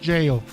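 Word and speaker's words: gaol: forget the girl the it's written Gale or it's pronounced jail speaker Leonard buddy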